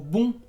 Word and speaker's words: bon: O bon, que es bueno, que es el sonido de la O nasal.